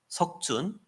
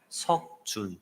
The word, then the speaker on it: 석준: 쓰는데 the Korean name that I have is Seokjun. 제 한국 이름은 석준이에요. So I tell them my name is Seokjun. 내 이름은 석준이야라고 얘기를 하면 They say, "What?" 뭐라고? Seokjun.